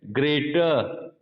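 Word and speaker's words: greater: ठीक है, जैसे एक वर्ड है ग्रेटर, ग्रेटर, ग्रेटर में पीछे का आर नहीं बोला जाएगा, तो एक्चुअल इसका जो प्रोनाउंसिएशन होएगा ग्रेटर, ग्रेटर।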